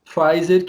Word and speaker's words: Pfizer: Os principais destaques, tanto do basquete quanto do futebol americano, da terra da Pfizer, que, como a gente já comentou, não é alemã, por mais que pareça na pronúncia, é americana.